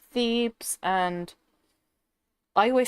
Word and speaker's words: Thebes: It's Thebes, isn't it? It's Thebes, and I always say it wrong.